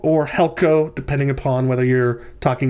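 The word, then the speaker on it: helkō: syllable of helkuo, and you can see the accent on the first syllable of helko. All right. So we're talking today about the Greek word helkuo or helko, depending upon whether you're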